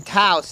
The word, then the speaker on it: Taos: Just because we live in Taos and it rhymes with house doesn't make it a good name.